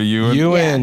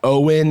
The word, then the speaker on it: Ewan: You guys remember Ewan? Right? Similar glasses? And it's Ewan and it's not Owen and it's not Eoin.